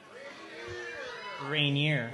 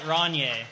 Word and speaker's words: Rainier: I've always called it Ronier, but... Right. It does. Ronier does not rhyme with beer. No, it does not. He's an upper crust drinker. Yes. I always called it rainier. Like as in, it's sunny there, but it's rainier here.